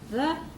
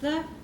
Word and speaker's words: the: Now, that is pronounced the, when it comes before a consonant, is pronounced the when it comes before a vowel. You say the table as you say the apple, the orange, the axe.